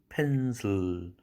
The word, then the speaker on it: pencil: little, table, pencil, 펜슬 연필할 때 슬 하는 건 실이 아니고 슬입니다. I라는 철자의 이 모음은 없습니다. 묵음입니다.